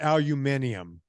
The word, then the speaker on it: aluminium: And the other one, England, is not aluminium. No, they put an extra syllable and letter in there.